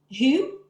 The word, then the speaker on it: Hue: Then Hue. Who? Who's City? Hue is how it's spelled. And again, that's a city,